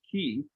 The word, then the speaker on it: QHEE: The tax benefits are shown here, and you may be wondering what the QHEE stands for, it's pronounced key.